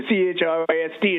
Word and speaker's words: Christ: Christmas remember in the ch r i s t in the word Christmas when it is separate from that suffix is pronounced Christ.